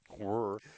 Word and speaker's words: were: Were. I didn't say it right. Not where you there.